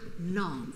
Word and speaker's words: name: The word name was originally spelled nam, pronounced nam as in calm.